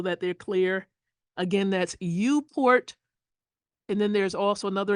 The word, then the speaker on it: uPort: So I will tell you that tools like UPort, let me spell it for you. Lowercase u, capital P, and port. So UPort.